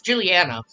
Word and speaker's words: Juliana: It's Juliana. I was saying the name wrong, right?